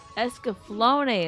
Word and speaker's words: Escaflowne: Escaflowne is how it's said.